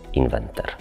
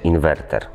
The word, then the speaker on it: inwerter: Lekcja dotyczy podstawowych błędów leksykalnych dotyczących fotowoltaiki i tutaj jako pierwszym sztandarowym przykładem jest błędna wymowa słowa inwerter. Część społeczeństwa wymawia to jako inwenter. Poprawna forma tego słowa to oczywiście inwerter.